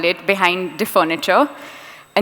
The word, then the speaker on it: Differniture: It has been butchered to death. I get it. Sometimes people call it differential, which goes into cars, or sometimes it's other things. But different furniture was my idea behind it. And I'd like to take